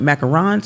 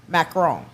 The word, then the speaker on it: macaron: Now do they call it macarons or macaroons? Macaron.